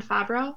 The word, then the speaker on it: Favreau: by I always say his last name John Favreau right oh is it okay I didn't look